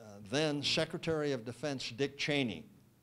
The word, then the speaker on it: Cheney: My uncle, came across a constituent letter to then Secretary of Defense Dick Cheney. Cheney, that's the way he pronounces it.